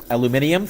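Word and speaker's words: aluminium: aluminum the atom first alluminium thank you it's really how it should be pronounced okay so I'm gonna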